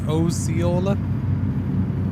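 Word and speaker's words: Osceola: Ociola. I don't know. I'm just I'm just phonetically pronouncing it. Who knows how they say it? I don't know. Is it Oola? Oola. It's Oola. There you go.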